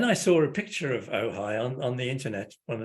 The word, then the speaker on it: Ojai: um and then I saw a picture of oh hi on on the internet on the Chamber of